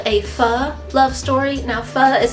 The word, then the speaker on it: Pho: kind of a fun story it's called a fur love story now Pho is spelled p-h-o so we phonetic people who taught second grade would have pronounced that faux love story but it's actually pronounced fur and